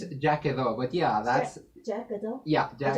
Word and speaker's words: Quedó: Did I pronounce it right? That's It's the name of your actually it's Quedó, but yeah, that's Jackado?